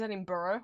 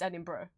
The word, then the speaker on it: Edinburgh: I've heard people mispronounce it as Edinburgh, which at least makes sense. It's Edinburgh.